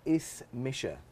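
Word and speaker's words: Is mise: name is or I am and this is is Misha I'm gonna write it out phonetically for you it's spelled like this but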